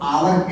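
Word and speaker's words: hour: उसी तरह आवर लिखा हुआ है, तो आवर एच से शुरू हो रहा है, उसका उच्चारण हम आवर से पढ़ते हैं, और वही फिर एच से हिप्पो लिखा हुआ है, उसमें ए लगा।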